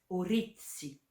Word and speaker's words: oritthi: Le 6 et le 8 sont les deux seuls chiffres dont la terminaison est une voyelle. C'est pour ça qu'on a ajouté un T à si pour l'accent tonique.